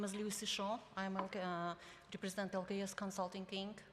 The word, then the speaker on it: Shaw: Am I pronouncing your name correctly? Shaw? Shaw, S-H-A-W.